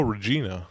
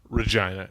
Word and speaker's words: Regina: People coming and going, oh, Regina, and I'd say no, Regina. It rhymes with fun.